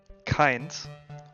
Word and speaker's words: kein: I mean, the K1, because you have to pronounce it in German, is Keins, or Kein, which is basically unfiltered.